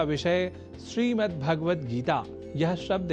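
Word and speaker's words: श्रीमद्भगवद्गीता: जैसा कि मैंने उच्चारण किया श्रीमद्भगवत गीता जिसे अनवधानतावश हम [नाक से की जाने वाली आवाज़] श्रीमद्भगवत गीता या श्रीमद् भागवत गीता या भागवत गीता कर जाते हैं जो सर्वथा अशुद्ध है।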